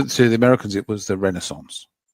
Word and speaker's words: Renaissance: And I said, "Oh, you mean the Renaissance?" They go like, "Why did you say why do you say it like that?" I said, "It's the Renaissance." I said, "If it's a French word, come on."